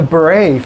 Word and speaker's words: bourrée: This is, I don't know how to pronounce this word, the Bourrée, B-O-U-R-R-E, did I say that right? Yep. The Bourrée from George Frederick Handel's Water Music Suite No.